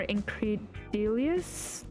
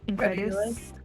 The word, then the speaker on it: incredulous: I don't think I've ever seen a more incredilious space in my life. Is that how you say it? Incred incred. Incredulous.